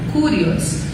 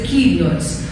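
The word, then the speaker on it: κύριος: Por exemplo, kurios é senhor em grego, mas a pronúncia também pode ser kyrios.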